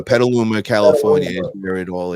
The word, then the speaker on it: Petaluma: on all the local radio stations how you pronounce that down p p Petaluma Petaluma California is where it all is yeah so